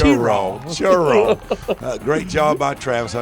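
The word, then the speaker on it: Cheraw: of Shir South Carolina you got to say it right Rich it's ch churro great job by Travis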